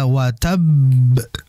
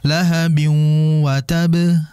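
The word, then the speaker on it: وَتَبَّ: Ya, watab. Ya, watab. Jangan langsung lahabin watab. Nah, itu salah karena ada tasydid di dalamnya. Sehingga ditahan dulu baru dilepas.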